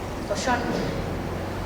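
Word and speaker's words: Cauchon: Collón, en francés se escribe distinto, pero se pronuncia cerdo, es la palabra, realmente fue miserable.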